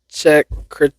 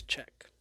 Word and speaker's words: Czech: 6th check. Me not knowing how to pronounce things. I'm pretty sure it's just check. Like like Czech Republic. It's the CZ. Oh, it's simply said as Czech.